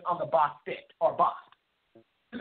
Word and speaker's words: Bastet: It is also spelled and pronounced Bastet.